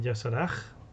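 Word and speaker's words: Y'Shaarj: Isarg, en inglés lo pronuncian Yasarag. O Yasarg, o algo así raro.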